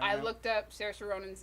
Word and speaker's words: Saoirse Ronan: Saoirse Ronan. Her. Are we Oh. sure that's how you pronounce the name?